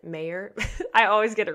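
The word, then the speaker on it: Mawer: up say it's Rudy Mau you it's m a w e r it's kind of they pronounce it a British way so I think he actually pronounces it mayor I always get it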